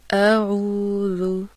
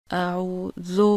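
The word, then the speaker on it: أعوذ: پڑھنا۔ پھر سے سنیے، اعوذ کی جگہ اعوذو پڑھنا۔ پھر سے سنیے، اعوذ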